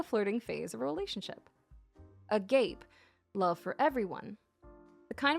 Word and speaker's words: agape: sounds like something else oh Agape oh sorry I said a gape why do I keep